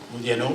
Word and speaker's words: Modiano: Pronuncio el apellido Modiano como lo pronuncia su propietario. También sabemos nosotros que Modiano es Modiano, es italiano, pero lo pronuncio Modiano porque así lo pronuncia él.